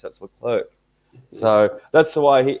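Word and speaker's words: Leclerc: everyone's been calling him the clear for so long but yeah yeah he puts it puts a c or a K on the end of his when he when he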